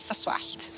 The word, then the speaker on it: Croesoswallt: So yn lle ceffylau, sy'n ni'n deud ffyle. Ac yn lle croes oswallt, sy'n ni'n dweud soswallt.